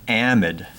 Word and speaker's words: amide: this is called an amide now amide can be pronounced like that or some people will say amid or some people will say amide I say amide now the long version